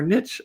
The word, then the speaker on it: niche: Mistake number one, uploading random designs without a niche or strategy or niche as Americans say, but we're Canadians.